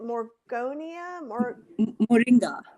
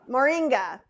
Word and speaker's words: moringa: vegans can't have but and you you probably pronounce it is it morgonia moringa see what that goes on my long list